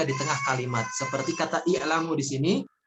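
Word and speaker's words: اعْلَمُوا: Seperti kata i'lamu di sini, ini dinamakan hamzah wasol yang dibaca di awal kalimat, ya. Dan untuk cara bacanya ada 3 macam, ya. Ada bisa dibaca dengan i'lamu, ya.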